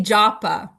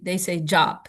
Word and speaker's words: japa: Indian, we all say japa, right? We're Westerners, we say japa, but many, maybe most Indians, they say jop. They drop the last A.